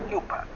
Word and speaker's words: Cooper: Y en el libro Leyenda del Padre de Miguel Rodríguez, aparezco así como Cupa Cooper, porque en alemán Cooper se pronuncia Cupa.